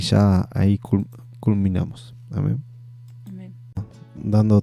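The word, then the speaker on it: Jah: Ya, fíjense que en los salmos lo van a encontrar como Ja, J-A-H, pero es Ya.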